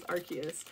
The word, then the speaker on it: Arceus: guys been playing um arceus which by the way is formally how you pronounce it in english as arceus i googled 15 000